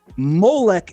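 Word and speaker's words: מֹלֶךְ: You see, there are three ideas I just represented that are spelled exactly the same in biblical Hebrew, but each different pronunciation yielded a different meaning. Melch is how we say king. Malik is an angel. Molech is a god that the creator told us don't worship.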